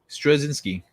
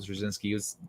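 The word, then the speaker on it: Straczynski: i meant i meant i thought i got his his first name wrong but it's because i didn't i think i called him michael cerzinski that's which is incorrect i could swear here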